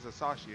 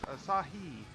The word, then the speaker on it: Asahi: Asahi. I always want to say his name is Asahi. It's Asahi. Because they're hungry for the beer.